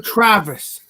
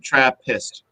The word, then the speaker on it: Trappist: So Travis style beer. Yes, Travis. I know. Trappist. So Trappist. We'll work on the pronunciation after the show.